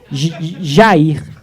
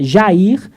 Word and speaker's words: Jair: Jair abre parênteses pronunciado Jaer, que não é o melhor tradução, né?